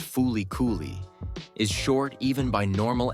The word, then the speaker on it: FLCL: the video 10 flcl flcl pronounced foly is short even by